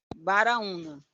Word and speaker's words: Baraúna: Então, é doutor Baraúna. É como Graúna com B de bola.